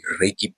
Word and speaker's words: Reiki: You are a Reiki practitioner. Am I am I pronouncing that right?